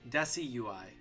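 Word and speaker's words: Decidueye: Or desi like decimeter. Wait, it's desi. That's how you say it. Like decimal desi desui like decimal desui desi desiui decimal desui.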